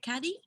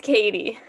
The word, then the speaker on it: Katie: pronouncing it correctly as is it caddy it's katie okay katie yes no